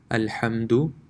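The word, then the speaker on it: الحمد: actually be stretched so the first one will be pronounced al hamdu the dal is not stretched at all it's a quick and you can say a quick touch of the letter al-hamdu and the second is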